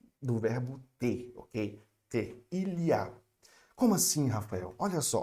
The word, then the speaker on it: il y a: Bom, primeira pronúncia do il y a, eu não vou falar I-A, mas sim il y a, eu vou juntar, tá ok?